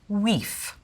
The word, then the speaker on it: wife: sounds like is to take all vowels and pronounce them as you would in French and pronounce every letter. The word for wife would be pronounced weef. The word for house would be pronounced huus. The word knight, knicht.